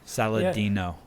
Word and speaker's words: Saladino: starting point for people paul saladino i'm pronouncing it right right saladino yeah there's salad in there man saladino you want